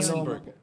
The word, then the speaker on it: Duesenberg: Duesenberg. Ha? Paloma. Anong, paano i-pronounce yun? Duesenberg. Duesenberg. Yeah. Duesenberg. So it's and Berg. Dalawa kasi yun ni si Duce at si Berg.